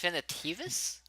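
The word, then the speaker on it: Finitevus: What'd you think about Finidivus? I didn't really like get into his storyline that much, so I don't have an opinion. Okay. Finidivus is okay. Apparently, it's pronounced Finitivus.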